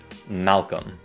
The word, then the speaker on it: Malcolm: Ví dụ, tên của nhà hoạt động nhân quyền này thì các bạn hãy bỏ qua chữ L thứ hai. Malcolm.